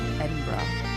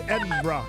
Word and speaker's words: Edinburgh: You're pronouncing Edinburgh wrong. I know. My wife tells me that all the time. Ed. It's Edinburgh. Edinburgh.